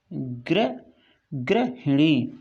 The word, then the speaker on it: गृहिणी: तो सही का सबसे पहले हम उच्चारण करेंगे, सही को बोलेंगे गृहिणी, गृहिणी, गृहिणी। ठीक है, तो ये जो ऊपर वाला शब्द है, ये लिखा हुआ है गृहिणी, गृहिणी, ये सही है।